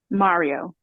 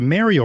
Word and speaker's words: Mario: I internally shudder because I'm like, why are you saying it like that? Like Mary.